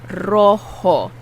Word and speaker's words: rojo: Rojo. This takes a big rolling of the tongue. Rojo. And the J is pronounced like an H.